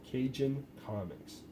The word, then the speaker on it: Cajun Comics: And this is, I believe you pronounce it, Cajun Comics. And if I said that wrong, it's C-A-J-U-N Comics. So I probably said that right.